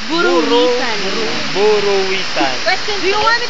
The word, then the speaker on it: Buruwisan: FS Yeah you're right bwasan buruan buran bur pronounce it correctly buran buruwisan question do you want me to spell it